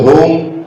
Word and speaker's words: home: If you say home, they will say home. Diphthong sound, 2 vowel sounds, home.